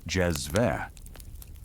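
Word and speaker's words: cezve: You observe the meticulous preparation of Turkish coffee finely ground beans simmered slowly in a small copper pot called a chedi pronounced jezve producing a rich thick brew with a distinctive foam on top.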